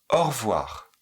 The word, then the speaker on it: au revoir: Alors, souvent le O est prononcé plutôt O. O. Et revoir se dit plutôt reve. Au revoir. Or. Et on ne dit pas le e. Au voir. Au revoir.